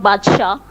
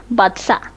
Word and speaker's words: Badsa: It's not Badshah, Badsa.